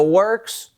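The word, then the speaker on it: Worx: I will say this positively about Works, and Works is not spelled with a K-S. It's spelled W-R-X. Works, because it works.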